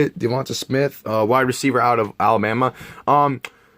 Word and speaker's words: DeVonta Smith: Devonta Smith, that's how you say it. Devonta Smith, wide receiver out of Alabama.